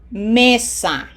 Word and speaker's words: mesa: Does it end in a vowel or N or S? Yes, it does. It doesn't have a graphic accent, so emphasis is in syllable number two. mesa Ends in a vowel, syllable number two.